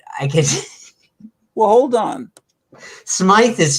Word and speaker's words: Smythe: okay it's spelled s-m-y-t-h-e I used to call him Smith when I was a kid and my dad would always say it's Smythe it's Smite and he was right I was wrong you